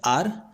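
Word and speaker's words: our: इसे लोग आवर भी बोलते हैं, इसका प्रोनाउंसिएशन आर ज्यादा सही होता है तो मैं यहां पर इसे आर ही कहता हूं।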